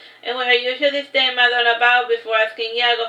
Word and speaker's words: Madonna: Pronounced Madonna. It's like Ma space Donna, because like her last name is Donna.